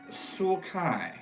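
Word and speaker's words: sulci: The words are pronounced Jai-Rai Jai-Rai, okay. and Sulkai. And Sulkai.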